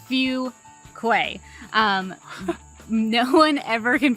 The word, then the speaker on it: Fuquay: lot in the video it is pronounced few Quay um no one ever